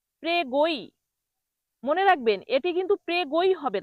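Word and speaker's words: prego: গ্রাজি কিন্তু সঠিক উচ্চারণ হবে গ্রাথিয়ে। পরের শব্দটি হলো প্রেগো। প্রেগো এর বাংলা অর্থ হলো স্বাগতম। প্রেগো এর বাংলা অর্থ স্বাগতম। অনেকে এটাকে ভুল করে উচ্চারণ করে। প্রেগই প্রেগই।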